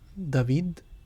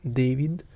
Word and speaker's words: David: why i'm calling him david and not david it's because this is how it is pronounced in spanish which is the language